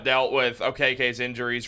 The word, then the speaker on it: Okeke: in chuma okiki he's or okk as I just learned his name is pronounced is also playing a